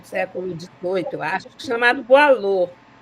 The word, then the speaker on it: Boileau: XVIII, eu acho, chamado Boileau. Boileau se escreve Boileau, tá? Boileau.